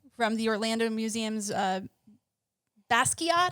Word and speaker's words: Basquiat: the orlando museum's uh basket is that how you pronounce it from that existence i need you to get this right basket pronounce it correctly please brett kavanaugh uh